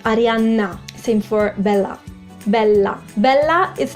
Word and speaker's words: Arianna: I also noticed that you guys sometimes spell Arianna with just one N, Arianna. But in Italian it's double N, so you need to strengthen the sound. Arianna.